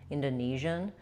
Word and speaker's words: Indonesian: Indonesian. Indonesian. Yeah, so avoid using a clear O there. You want an because that syllable is not stressed.